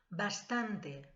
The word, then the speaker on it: bastant: el arte acaban con sonar acaba ante lanús pronuncia bastante bastan mucho bastan también acaba antes pero tampoco